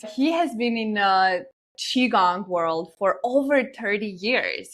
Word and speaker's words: qigong: know Lee yet he has been in a chiong world for over 30 years he has been